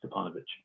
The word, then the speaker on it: Stevanovich: Stevanovich. It's with a V, but he pronounces it Stepanovich.